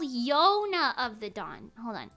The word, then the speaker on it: Yona: we don't know what they are it's possible Jonah what huh it's called Yona of the Dawn hold on it's spelled like this spelled like Yona of the